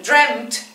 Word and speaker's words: dreamt: dos consonantes juntas, pero siempre traten de hacer la diferencia. Dream, dreamt, que suene la NT.